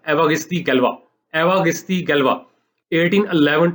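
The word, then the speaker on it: Évariste Galois: अब मुझे फ्रेंच तो नहीं आती, लेकिन ये मुझे पता है कि ये जो सही प्रोनाउंसिएशन है इसकी, ये है एवागिस्ती गैल्वा।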